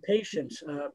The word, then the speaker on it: patience: And patience, patient, the second syllable should be a schwa, not an e.